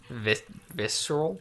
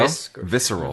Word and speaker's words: visceral: Amicus's reaction to my teasing is instant and visceral. There you go. Visceral. Visceral. You don't pronounce the C.